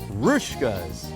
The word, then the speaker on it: Hruska's: check pronunciation for you evidently the H on the front is silent and this little Boomerang thing over the S makes a sh sound rkas rouskas so where where should